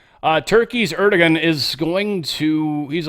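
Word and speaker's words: Erdoğan: Uh Roman, and the reason I say someone corrected me a while back and said it's Erdogan. Um Trump pronounced it Erdigan. So, I'm going to go with Trump's pronunciation.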